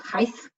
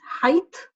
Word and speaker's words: height: the difference in pronunciation it's not hice its height that clear T so the spelling just